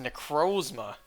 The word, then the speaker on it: Necrozma: But yeah, I heard people pronounce it Necrozma, so I thought maybe it's correct because the word the name is based off of is pronounced like that. So I started pronouncing it Necrozma despite thinking Necrozma sounds better. But finally, it's confirmed it's pronounced Necrozma. So I can finally go back to the way I always pronounced it. The correct way.